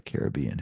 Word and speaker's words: Caribbean: They did mention where in the Caribbean or the Caribbean, however you want to say that.